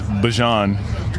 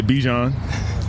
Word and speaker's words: Bijan: How you pronounce my name is Bijan. For everybody that's out there, I know a lot of people say Bijan, but it's Bijan. It's Bijan, yeah.